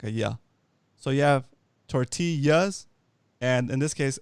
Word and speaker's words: tortilla: has a double l that l is pronounced like a like a like a y sound in english like a yeah so you have tortillas and in this case